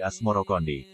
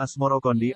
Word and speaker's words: Asmoroqondi: atau Maulana Ibrahim Asmoro sebutan itu mengikuti pengucapan lidah Jawa dalam melafalkan assamar Kandi yang kemudian berubah menjadi asmorokondi istri pertama Syekh Ibrahim asmoroqondi